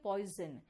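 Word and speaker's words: poison: आप कभी पॉइजन कहते हो क्या? नहीं ना, आप कहते हो पॉइजन, यानी कि एस का साउंड ज भी आ रहा है।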